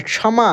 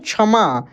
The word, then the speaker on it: क्षमा: तो सिंपल छ है लेकिन यह संयुक्त छ है इसमें आधा क और मूर्धन्य श है जब आप किसी भी यह शब्द के साथ इसका उच्चारण करेंगे तो देखिएगा शुरुआत में तो रहता है तो इसी छ के जैसे उच्चारण होता है लेकिन बिल्कुल इसके जैसे नहीं होता है शुद्ध रूप से प्रोनंसिएशन जब आप कीजिएगा तो अंतर होता है क्षमा कैसे बोलते हैं